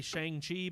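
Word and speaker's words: Shang-Chi: miss brown that's right i want to say shang chi because that's how it is that's how you would pronounce it in english but yeah yeah but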